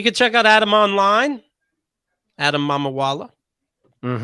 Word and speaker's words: Adam Mamawala: Adam Mamawala. Mhm. Really, it's not a tough name, just like you would pronounce it.